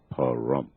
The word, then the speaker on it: Pahrump: Not to laugh, as I spell it, that's P as in Paul, A-H-R-U-M-P, Pahrump, Nevada.